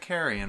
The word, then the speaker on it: carrion: Oh, I pronounced that carrion. Carrion. Myself. I think Yeah. it's Carrion.